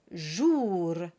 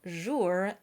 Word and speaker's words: jour: We have jour and pour. Whatever you do, it's not jour and pour.